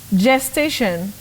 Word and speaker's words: gestation: which is which will gestation gestation in that word Betty the G takes sound J the voice sound J that G just like in the word General gender generator you say gestation just